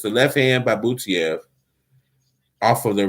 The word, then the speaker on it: Butaev: We got another left hand for Butaev. I'm going to start pronouncing it right now.